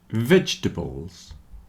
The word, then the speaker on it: vegetables: with art heart heart comfortable vegetables and chocolate have lost their middle syllable at least for most